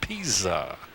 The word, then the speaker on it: Pisa: The name is spelled, by the way, as in pizza, but it is pronounced Pisa, just in case you're interested. So Rick Artuso has given up his third hit.